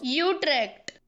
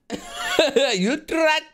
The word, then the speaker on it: Utrecht: do you say it I know it's not bad Utrecht that's that all right you're dead you tracked okay did you come again that's the one that's the official pronunciation sorry Netherlands gonna have